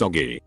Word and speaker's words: Augie: Then when her little brother was born she asked me if she could call him Augie, pronounced Oggy.